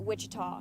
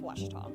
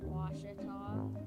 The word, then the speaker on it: Ouachita: Back in Texas, everybody pronounces it Wichita, but really, it's Washita. Washita. Washita. How would you pronounce it? Washita.